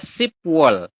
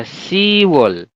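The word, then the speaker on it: 시월: lagi yang berbeda adalah Bulan 10 ya bulan 10 adalah shp wall tapi teman-teman nanti Bacanya adalah sewall seperti ini jadi sewall Yang hilang apa babnya Oke jadi yang pertama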